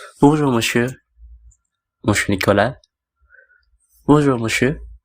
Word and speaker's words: monsieur: Bonjour monsieur. Jadi monsieur itu tulisannya MONSIEUR. Itu dibacanya monsieur.